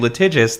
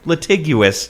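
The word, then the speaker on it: litigious: Uh, I was very proud of myself for saying latigious this time around instead of latiguous, which I've done in the past and we've definitely received feedback on.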